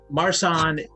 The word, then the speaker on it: Marsanne: Marsanne. There's no accent on the last E. There's no accent aigu.